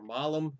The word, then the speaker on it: Malum: Um, my initial introduction to this band was in 2016 with their album Malum or Malum is how you pronounce that.